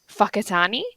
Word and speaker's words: Whakatane: A lot of their towns obviously have names, but it's pronounced like Whakatane.